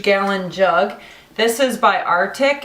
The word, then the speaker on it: RTIC: grab this huge gallon jug this is by artic it's rtic that's how it's spelled I found this after buying a ton